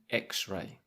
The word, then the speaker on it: X-ray: em I know that it's pronounced X so last week I didn't have an x-ray that's a good week